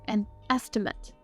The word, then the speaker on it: estimate: or value of something as a verb this word is pronounced estimate it can also be used as a note in this case we' say an estimate an estimate is a